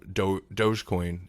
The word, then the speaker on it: dogecoin: Now, we don't have to get too much into um dogecoin. Am I pronouncing that right?